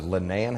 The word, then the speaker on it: Linnaean: really yes compared to ours is it the linnaean house am i pronouncing that correctly that's correct i know that